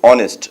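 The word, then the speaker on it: honest: अब ऑनेस्ट का उच्चारण करेंगे तो आप किससे करेंगे, ऑनेस्ट, तो ओ का साउंड आता है और ओ क्या है आपकी, वॉवल, तो हम यहां यूज करते हैं Ramesh is एन ऑनेस्ट मैन।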